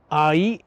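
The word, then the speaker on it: 愛: But ai is love, and it's not pronounced I. It's not 1 syllable, it's actually 2 syllables.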